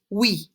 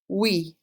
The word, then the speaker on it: oui: The word for yes is oui. Oui. Just like W-E in English, oui.